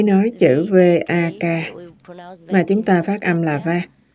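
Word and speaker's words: वाक्: Ban đầu là Vak, ý nói chữ V-A-K mà chúng ta phát âm là Vak trong tiếng Phạn.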